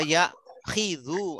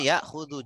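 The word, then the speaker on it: يَأْخُذُ: Kalau polanya beda nanti bacanya akhoda yakhidhu atau yakhudhu. Nah, ini enggak masuk kalau itu. Ya, akhoda yakhudhu jadinya karena dia ikut pola satu.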